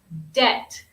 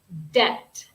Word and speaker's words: debt: pronunciation of this word debt debt this word has a silent B debt debt so this is